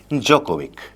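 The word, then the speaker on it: Djokovic: Novak जोकोविक। Novak D silent हो जाता है। तो नोवाक जोकोविक हम पढ़ते हैं।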